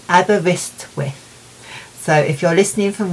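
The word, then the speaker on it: Aberystwyth: the Welsh show um now I'm going to have to look over here to see how it's pronounced cuz I need to be able to do it properly and I've written it phonetically it's in abber wrist with so if you're listening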